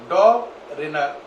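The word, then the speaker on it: Döbereiner: tried क्या पढ़ोगे tried तो प्रोनाउंस क्या होगा पूरा डॉग रिनर ट्राइड एक साथ मिलाओ डॉग रनर ट्राइड एक साथ मिलाओ डॉग रिनर ट्राइड है ना डॉग रिनर tried is it okay क्या प्रोनाउंस करना समझ पाए अब इसमें इन्होंने कहा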